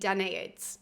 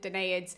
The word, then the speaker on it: Danaids: Now, I understand when I talk to people that people say this word very differently. It's up on the screen for you guys. I have always said Danaids, and so I'm not going to change now.